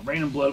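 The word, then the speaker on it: Reign in Blood: And they have an album called Rain in Blood, and it's spelled R-E-I-G-N. Unlike this can, which is R-A-I-N. Now, Rain in Blood was the third studio album from Slayer.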